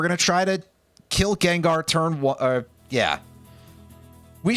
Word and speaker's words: Gengar: And I'm going to pronounce it that way for some reason. and just go for a psychic on on Gengar on Jengar as you might say if you're a very strange person.